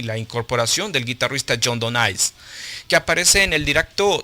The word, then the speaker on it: Donais: I think it's Donais the way you pronounce it. It's French.